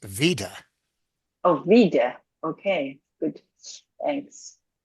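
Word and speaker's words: וידוי: Yeah, in Yiddish it's usually pronounced just vida.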